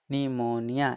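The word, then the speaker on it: pneumonia: लेकिन जब किसी वर्ड के शुरू में PN या PS हो, PN या PS हो तो P का उच्चारण नहीं होता है। P का उच्चारण नहीं होता है। ठीक, जैसे CUPE, कप। ठीक, आप PE शुरू में है ना, PNE UMONIA, PN है शुरू में, PN है तो इसका उच्चारण प नहीं होगा। ठीक, तो PNE UMONIA, निमोनिया। इसको क्या बोलेंगे? निमोनिया। इसमें P क्या होगा? साइलेंट हो जाएगा।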